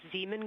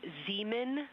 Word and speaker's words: Zeeman: Integrity Science, we believe that's Zeeman Crater. I floated away from the speaker. Say it again, please. We believe that that is Zeeman crater.